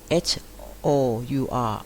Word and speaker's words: hour: กับ คำ ว่า Our h o u r hour ที่ แปล ว่า ชั่วโมง เรา จะ ไม่ ออก เสียง ตัว H นะ คะ เรา จะ ออก เสียง